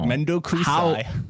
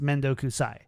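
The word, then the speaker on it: 面倒くさい: It's pronounced Mendo Kusai. Saii would be. I think it's just the accent that you put on that changes it a little bit.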